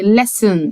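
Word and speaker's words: listen: ا عندي بعد كده يستمع يعني لسن لسن لسن حرف التي هنا سايلنت لا ينطق لسن يلمس يعني تاتش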